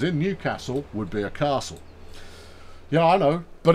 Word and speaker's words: castle: it as uh equally if you're in Newcastle it is Castle and not Castle because uh there you go but a castle that was in Newcastle would be a castle yeah I know but